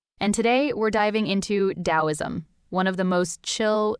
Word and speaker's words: Daoism: And today we're diving into Dowoism, one of the most chill yet profound philosophies ever.